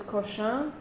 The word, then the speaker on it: Cochin: When you're dealing with typeface names, you can call them, you can try to adjust your pronunciation to the original name.